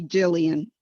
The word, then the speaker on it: Gilliam: Amy Gilliam. Wait, did I pronounce your name correctly? It's Amy Gilliam, just Gilliam. as if you were to say William, but with a G.